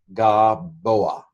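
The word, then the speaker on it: גָּבֹהַ: And so the dagesh in this situation just makes the gimel hard, g. Now, in modern Hebrew, that's the only way they pronounce a gimel, so it's kind of ignore this. It is gaboa.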